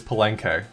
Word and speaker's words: Palenque: of research to to figure out how to pronounce this and it is palenque i feel i feel